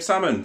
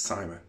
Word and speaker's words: Simon: you salmon it it is yeah yeah they pronounce my name salmon from time and afterwards like it guys come on it's Simon Simon and so they came out to me